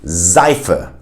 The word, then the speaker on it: Seife: But sometimes, and mainly when the S is in the beginning of the word, it will be pronounced as a Z sound. For instance, in Seife, Seife, which is soap